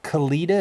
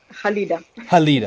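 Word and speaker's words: Khalida: of this young lady is kalida is that how i say her name yeah halida okay so halita so halita she and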